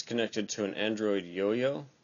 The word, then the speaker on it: IOIO: connected to an Android yo-yo it's an IO iio but pronounced yo-yo for some reason it is connected via